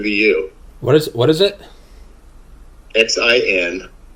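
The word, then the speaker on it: Xin loi: Xinloi. Sin Loi. Yeah, it's pronounced S-I-N, but it's spelled Xin.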